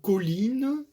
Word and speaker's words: colline: En revanche, dans le mot colline, eh bien, l'accent sera sur li.